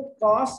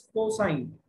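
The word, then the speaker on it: cosine: इसी तरीके से वो कॉस नहीं है, दैट इज कोसाइन।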